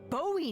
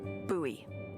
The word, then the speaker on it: Bowie: And then all of a sudden, with no warning, he pulls out this huge rusty Bowie knife. It's actually pronounced Bowie. What? No, it's like the last name, like David Bowie.